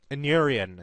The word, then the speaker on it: Inurian: Inurian is how it's pronounced.